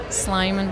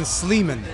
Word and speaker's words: Sleiman: How did you pronounce it? Sliming. Oh, okay. Close. Close. Listen, don't feel bad. Tom McCarthy, the writer and director of the film, for a whole year kept saying Sleman, and I didn't say anything.